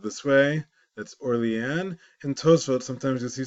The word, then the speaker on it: Orléans: New Orleans, Louisiana, is named after Old Orleans, the original Orleans in France, but because it's French, even though it's spelled that way, it's pronounced Orléans. It's not pronounced Orleans.